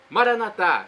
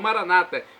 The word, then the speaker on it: Maranata: E agora eu clamo do aramaico dialeto de Jesus: Maranatá, como dizemos nós católicos, ou Maranata, como dizem nossos irmãos separados, os evangélicos ou protestantes. Não importa a pronúncia, o significado é o mesmo.